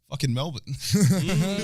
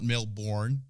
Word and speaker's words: Melbourne: oh people are like okay say mel and then say bin or bun or something and then